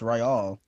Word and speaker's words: Ryal: I had no idea his last name I was Luthen Real. Yeah, it's Ryal. It looks like it's just pronounced real though, but just weirdly.